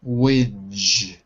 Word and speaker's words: whinge: Whinge. Whinge. Whinge. Not whinge, but whinge. Whinge. Whinge. Yes. That's better. That's better. So even though it's got an E at the end, that letter E is silent.